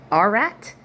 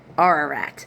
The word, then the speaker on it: Ararat: on the mountains of, I'm probably going to pronounce this wrong, Ararat, A-R-A-A-R-A-R-A-T. Ararat.